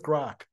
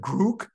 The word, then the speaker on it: Grok: Is it Grook? Is it Grok? You know, is it, what is the right pronunciation? He said, all of those.